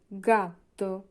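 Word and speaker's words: gatto: যেমন জি এর সাথে আছে উচ্চারণ হবে গা গা গাত গাত মানে হচ্ছে বিড়াল জি এর পরে যদি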